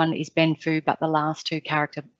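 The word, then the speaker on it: 奔富: the judge went because if it is read out loud orally it would be pronounced benfu and so the judge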